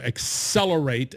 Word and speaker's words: Xcelerate: a conference right here's a conference called accelerate 20 that's spelled with an x right so you go out to accelerate a x c e